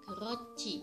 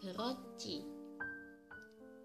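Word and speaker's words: 그렇지: menjadi Cie cie untuk contohnya geureochi harusnya dibaca grochick Iya tapi yang benar dibaca geureochi aturan pelafalan yang keenam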